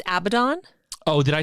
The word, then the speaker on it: Abaddon: i do want to say i think it's pronounced abaddon oh did i say it wrong you are